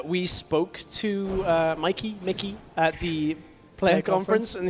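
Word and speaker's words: Mikyx: Mikey. Mickey. The X is silent, right? Uh, I believe so.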